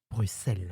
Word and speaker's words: Bruxelles: Donc là, le X de Bruxelles et ben on dit Bruxelles et beaucoup de Français diront Bruxelles effectivement. Donc les Belges eux l'écrivent de deux manières différentes, le S ou X. Mais ils prononceront toujours Bruxelles.